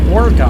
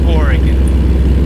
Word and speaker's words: Oregon: Hey, look, Oregon. I'm gonna slap you. It's Oregon.